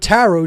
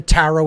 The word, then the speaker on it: tarot: that is is the tarot itself okay it's a phonetic equivalent t r o the last T is silent then a r o